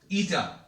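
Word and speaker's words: η: This is pronounced as what? ईटा, ठीक है।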